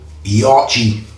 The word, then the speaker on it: Yaqi: over in uh Greenland he pronounces it the proper way you say yachi this one go Lo